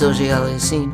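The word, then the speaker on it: Auger-Aliassime: Antetokounmpo in your casual conversation, or then Felix O.J. Aliassime, and now you know how to say it. Felix O.J. Ali, I seem to be missing my cardigan. So here's the chorus then. O.J. Aliassime, O.J.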